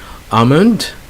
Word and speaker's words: almond: Old Testament it's Psalms okay again you don't pronounce the L next bomb again no no L that's a silent elder almond I don't like the nut and then you